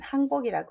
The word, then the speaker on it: 항복: 이건 항복이라고 읽으셔야 됩니다. 훈음이 2개죠. 항복할 항과 내릴 강자가 있습니다. 그래서 항복이라고 읽으시고요.